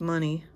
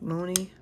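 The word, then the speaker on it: Monet: I know it's not pronounced money. It's like Moni, something like that.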